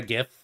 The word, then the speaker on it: gif: is called a gif you pronounce the gene not like a j it's a g pronounce it like a g don't ask me why